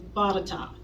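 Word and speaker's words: Botetourt: you're not from Virginia let me tell you how you say that word it's bought a top okay you would never guess in a million years that's how you say it and if you don't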